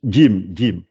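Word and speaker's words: جيم: alors, pour expliquer ça, il faut essayer de penser si on avait écrit un D et un J. Si on écrivait ça et qu'on demandait de prononcer. Voilà, le D et le J. Jim.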